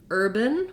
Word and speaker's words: urban: Looking at the word urban, we have first syllable stress, and the UR sound says the UR letters say the ER sound, You see the same spelling for in words like turn. We also see the sound spelled with letters ER, OR, IR, but it's one sound.